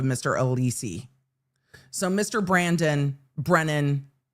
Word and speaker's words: Brennan: Brandon again on Sunday. Brandon, we ran through briefly again. And I'm just saying it's karma. This witness not pronouncing Brennan's last name properly is just karma for the